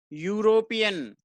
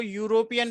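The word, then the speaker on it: European: देखे नेक्स्ट क्या है यूरोपीयन क्या-क्या पढेंगे इसको यूरोपीयन पढेंगे तो अब हम इसका फास्ट लैटर है वह नहीं देखना की है वह होता है हमें इसकी साउंड देखनी है साउंड किसकी है यह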